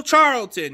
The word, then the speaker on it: Charlton: who likes tacos and it rhymes with Carlton you know Carlton Banks but the San Francisco 49ers have signed veteran defense alignment Taco Charlton yes he was a